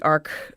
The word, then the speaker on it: ARC: That's called the ARC 1.2. It's spelled like arch, but it's pronounced like arc.